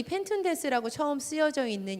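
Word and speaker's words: πενθοῦντες: 보시면요, 펜툰테스인데요, 여기가 툰이요, th 발음이에요. 그래서 펜툰테스 뭐 이렇게 됩니다. 그런데 이 펜툰테스라고 처음 쓰여져 있는 이 단어가요, 사실은 이 펜툰테스의 동사의 원형인 펜테오에서 온 유래된 말입니다.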